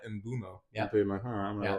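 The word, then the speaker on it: Mbeumo: I think that Brian Embo that say because I know that I sound ridiculous saying it.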